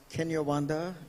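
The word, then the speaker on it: Kinyarwanda: exchanging notes and that is that uh it's pronounced kenyawanda the language yes in Rwanda is is not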